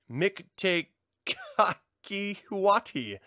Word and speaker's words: Mictecacihuatl: Skulls are a powerful symbol in the Aztec culture, and some were used as tributes to Mictecacihuatl, the goddess of death. Perfectly pronounced.